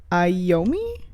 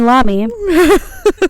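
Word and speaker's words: Iommi: have the guitarist Tony iomi iami II possibly fun fact totally thought that was an L my entire life and never heard it pronounced so I was like Tony Lamy Tony Lamy the guitarist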